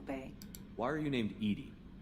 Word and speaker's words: EDI: behind the medical bay why are you named edie edie is the phonetic pronunciation of edi that is an acronym for